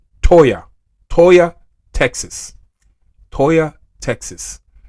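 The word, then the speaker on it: Toyah: over 30 earthquake hit uh south uh of Texas, a place called uh to toa I spell it to o y a h toya toya Texas toya Texas right next to right next to El Paso basically not far from New Mexico.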